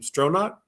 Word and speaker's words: Stronach: And yeah, so we're going to have Tammy, was how to pronounce her name? Stronach.